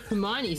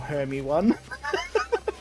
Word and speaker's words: Hermione: Harry Potter and everyone with Hermione's name. How would you... Wait, but how would you pronounce that any other way?